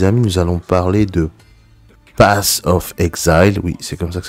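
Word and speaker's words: Path of Exile: prochain jeu les amis nous allons parler de pass of exile oui c'est comme ça que ça se prononce alors ce qui m'intéresse principalement c'est que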